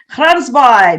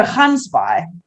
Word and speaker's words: Gansbaai: Gansbaai. Did I say that? No, Gansbaai. You're testing my Afrikaans pronunciations?